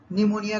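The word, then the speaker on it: pneumonia: पी नहीं भी लिखा तो भी हम साइकोलॉजी कहेंगे, निमोनिया कहेंगे तो उसमें पी नहीं आता है, लेकिन यहाँ पर स्पेलिंग में लिखा रहता है स्यूडो, झूठा, तो ये पी यहाँ पर भी आता है। प्रोनाउंसिएशन हम स्यूडो करते हैं, लेकिन लिखते वक्त पी लिखते हैं।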